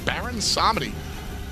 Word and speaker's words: Baron Samedi: Robin and the thought that will leave open Baron Samedi yeah it's ours that's how you say it by the way I mean everybody's gonna yell at me insane baron sammedi let's Baron Samedi chops to a wheel ish